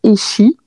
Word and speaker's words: Echi: marque, en fait, si tu veux, c'est le nom de mon arrière-grand-mère qui s'appelait Echi. Ok, Donc, par contre, ça s'écrit pas pareil. Ça s'écrit E-C-H-I.